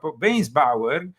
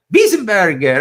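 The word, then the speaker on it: Weisenburger: The article concerns Archbishop Weinsbauer. That was, do you pronounce it like that? No. Weisenbauer? Burger? Wiesenberger.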